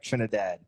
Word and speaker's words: Trinidad: Trinidad.